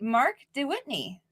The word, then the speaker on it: Mark de Wytteney: And with me tonight is Excellency Mark de Wytteney.